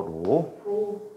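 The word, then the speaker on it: ρ: 그리스 문자야. 로라고 읽어. 로. 로.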